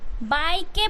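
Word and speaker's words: bike: से के बाय के बाइ के पढ़ोगे आप इसे बट ई जो है ना वो साइलेंट है तो इसे आपने क्या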